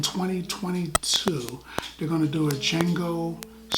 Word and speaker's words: Django: in the movie and Django tries to explain Jamie Foxx rides explained the names on it sells him to D is silent he's like it takes